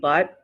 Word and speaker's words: but: accent all right it'll the t and butt will turn to a d sound i love the c